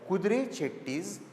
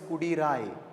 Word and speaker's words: Kudre Chetti: And these Chettis who dealt with horses especially were called as Kudre Chettis. Kudre means a horse in Kannada. It is not to be pronounced as Kudirai. Okay, it's supposed to be pronounced as Kudre Chetti, which means the